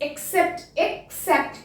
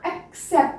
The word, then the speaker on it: except: clear second is EXCEPT ਹੁਣ ਇਹ word की प्रोनाउंसिएशन भी बिल्कुल सेम है दैट इज एक्सेप्ट या फिर एक्सेप्ट पीछे सेप्ट आएगा ठीक है EX जे आ जाता तो उन्होंने एक्स नहीं पढ़ना एक्सेप्ट ही होएगा स की साउंड आएगी